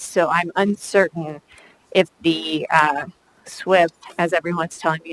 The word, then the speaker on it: SWIP: two separate areas, so I'm uncertain if the SWIP, as everyone's telling me it's pronounced, would attach to that other work.